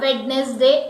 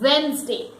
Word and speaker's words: Wednesday: It is not Wednesday, it is Wednesday. When we speak this word, we omit D and we place a Z sound, that is Z. Z. So we say Wednesday. When, Z and day. So the word is Wednesday.